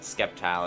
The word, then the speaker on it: Sceptile: There it is, Sceptile again. Well, yeah, that's how you're supposed to pronounce it. Ooh. Wouldn't it be like scepter? Isn't the word scepter?